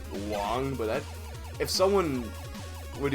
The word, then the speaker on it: Wang: I guess the connect the connect the correct way to for me to pronounce his name would be Wong but that if someone